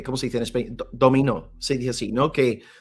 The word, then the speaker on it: dominó: Dominó, se dice así, ¿no?